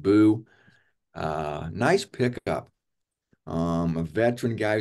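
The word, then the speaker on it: Buh: B-U-H, just pronounced Boo.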